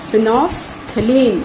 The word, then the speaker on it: phenolphthalein: It is phenolphthalein. It is pronounced as phenolphthalein, and it is not a natural indicator.